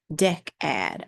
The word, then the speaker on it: Decad: Deck ad. Okay, it's deck ad. Decad.